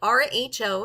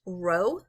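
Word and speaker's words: ρ: looks like a P okay but it's actually pronounced it's actually Rho it's Greek letter and it's pronounced Rho and this would be the population car population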